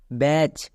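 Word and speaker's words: batch: আমি বারবার করে বললাম এখানে দেখো শেষে টি সি এইচ আছে তাহলে কি হবে চো হবে চলো এবার তাহলে উচ্চারণ করি বি এ ব্যা বি এ ব্যা টি সি এইচ এর জন্য কি হবে চো তাহলে কি দাঁড়ালো বি এ টি সি এইচ ব্যাচ এবার এখানে দেখো আমরা এর বানান করার পাশাপাশি একটা আর জিনিস শিখলাম সেটা হচ্ছে সাইলেন্ট লেটার এখানে সাইলেন্ট লেটার কে টি নেক্সট ব্যাচ এখানে শব্দের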